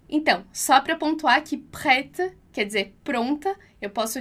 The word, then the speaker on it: prête: Nossa terceira palavra é prête. Prête. E aqui você já aprendeu comigo lá, prête. Então, esse E com acento circunflexo que a gente vai pronunciar o som de E.